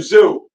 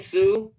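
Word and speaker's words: Tszyu: Tim Zoo. That's how you say his name, Sue.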